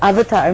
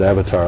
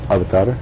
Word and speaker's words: avatar: Well, I pronounce it avatar like everybody else does, but I believe it's pronounced more like avatar.